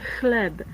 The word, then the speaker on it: chleb: And I'm not sure if this pronunciation is written here, phonetical is written well, because it's not chleb with K in the beginning, but it's ch. So it's chleb.